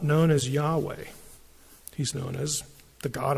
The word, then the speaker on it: Yahweh: name is I am which in Hebrew when the first person speaker is speaking is when you refer to that person the pronunciation is Yahweh and Yahweh you know what it